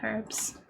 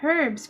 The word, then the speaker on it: herb: I've never heard the H in herbs pronounced so much. It's interesting. Sounds prettier. Are you more accustomed to herb? It catches me off guard when it's pronounced more like herb. I think it sounds kind of cool that way, but I'm like, there's an H there. I'm gonna say it.